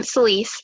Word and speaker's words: Celise: you um and then celise am i pronouncing that correctly yeah that's my name celise um so i just